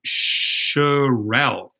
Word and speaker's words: Sherelle: I said Sherelle, and it's actually Sherelle. I will never say it incorrectly again.